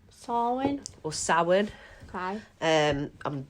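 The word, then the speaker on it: Samhain: i i n yeah I always thought it was pronounced samine and it's not what is it uh it's actually swin sawin or sa okay um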